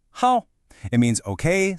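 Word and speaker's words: 好: This character is how and you pronounce it how.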